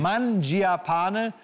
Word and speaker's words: Mangiapane: Matthias Mangiapane, so spricht man so aus, ne? Ja, ist richtig. Mangiapane.